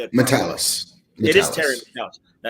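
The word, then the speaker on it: Matalas: Metalis.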